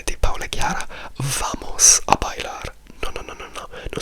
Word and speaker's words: bailar: E a invece in bailar invece della B che è quella che si scrive, se io invece scrivessi una V e la pronuncia non cambierebbe.